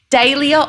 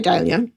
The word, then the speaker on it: dahlia: before we recorded, but how do you pronounce Dalia? Cuz I've said it now. I can hear a few different ways today. Dia or Dalia? Okay, I say Dalia.